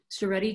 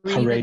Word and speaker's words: Haredi: Would a, I'm going to pronounce this wrong, Charedi Jew agree Haredi, that there, yeah. Haredi, excuse me, would they agree that